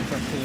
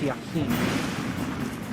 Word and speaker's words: Yaquin: It's not Joaquin, his name is Yaquin.